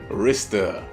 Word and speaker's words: Rista: Like, it's not pronounced Restart, but that's basically what it is. She's like, Rista.